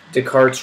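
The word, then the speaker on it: Descartes: The last thing in this gigantic section that we're doing is Deart's rule of signs. spelled like discarte but you say it like the cart like a Jamaican talking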